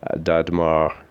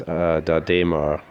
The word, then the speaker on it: d'Adhémar: I had mispronounced this first because the first thing I was reading from didn't have an accent over the E, so I was saying Dadmar. It's Dadema. It has been suggested by